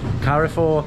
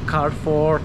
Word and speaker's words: Carrefour: Steve said that it's pretty much the same as Carrefour. He corrects me and says it's pronounced Carrefour, which I still disagree with. It's definitely Carrefour, right?